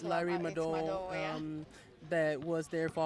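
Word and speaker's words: Larry Madowo: Yeah, it's Larry Mado, yeah.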